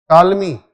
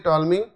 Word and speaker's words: Ptolemy: What is the pronunciation? Ptolemy. Okay, pronunciation is Ptolemy.